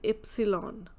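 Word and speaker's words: Ypsilon: Y is Epsilon. So epsilon is the letter that we used to say in German. It's not like you have to pronounce Y as epsilon, means Y will pronounce as Y only. Here it is Yacht. But when you give the spelling, at that time you will say epsilon, a, se, ha, te, like this.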